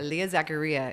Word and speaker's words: Zaccaria: Leah Zaccaria. It rhymes.